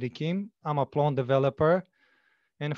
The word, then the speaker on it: Ichim: yes take it away my host mention my name is kim i'm a okay as i was saying my name is akeem i'm a plant developer